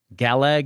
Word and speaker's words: Gallag: uh pronounced gal uh it's pronounced galag hero 7.